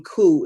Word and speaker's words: coup: enough to know that the p in coup is silent okay we're gonna do